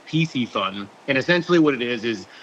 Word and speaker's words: Piscifun: But essentially what we do is we kind of merge two words. So we took Pisces, which obviously means fish in Latin, and then we took fun. So we pronounce it Piscifun.